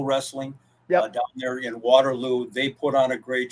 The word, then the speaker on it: Waterloo: I said it right my wife hates the way that I say Waterloo because I somehow put the emphasis on ooh I I don't know